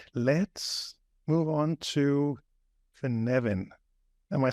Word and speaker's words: Cynefin: But yeah, that's how I pronounce it as well, kəʻnɛvɪn.